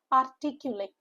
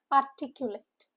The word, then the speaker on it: articulate: Articulate. Four syllable word with a stress on second syllable. It's artic sound. A y u h. And late. Articulate.